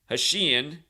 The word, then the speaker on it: Hashian: He got married to Lauren Hashian.